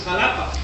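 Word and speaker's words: Xalapa: The capital of Veracruz is Jalapa, spelled with an X, jalapeño.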